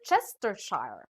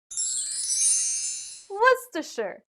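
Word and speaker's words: Worcestershire: what do you say some may read this as word chestershire or we're sister shar but how do we really pronounce this word the dictionary says it should be what's the shirt i understand how you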